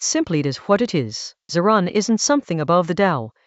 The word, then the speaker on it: zìrán: The Tao models itself on Ziran, pronounced Ziran.